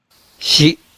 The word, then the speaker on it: 支: And the Japanese pronunciation is She she uh and if you uh remember from